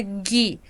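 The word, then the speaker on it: ぎ: Na verdade, gente, essa letra se pronuncia gi, gi, tanto em hiragana, gi, como em katakana, gi. A gente poderia, em português, ler isso aqui como gi. Por exemplo, na palavra gilete, a gente leria como gi, mas em hiragana e em katakana, isso aqui é gi.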